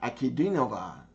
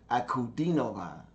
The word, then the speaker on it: Ankudinova: Okay, I can't say Ankudinova. It's Diana Ankudinova. That's how you pronounce it. Ankudinova.